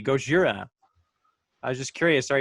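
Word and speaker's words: ゴジラ: of that shirt because it's the pronunciation the way it should be, Gojira.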